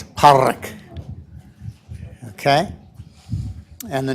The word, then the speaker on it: Pádraig: And to say it right, you got to get what my wife is a linguist, and she calls it a flap, so it's Pádraig.